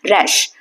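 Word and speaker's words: rash: रैश जैसे रैट बोलते हैं तो ए का जो साउंड है जैसे रैट में आ रहा है वैसे ही रैश में आएगा।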